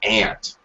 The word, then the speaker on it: aunt: British say aunt, Australians say aunt, and most Americans say aunt. But you will hear in America, there are a couple of dialects in America that say ant, like the insect, ant.